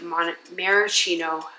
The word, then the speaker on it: maraschino: I don't normally like the maraschino, that is how you say it.